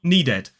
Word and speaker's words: needed: Not, as I said at the start, needed. We'll talk about that in a moment. So this is waited and this is needed. Waited, needed. So in both of these words, the ed is pronounced id.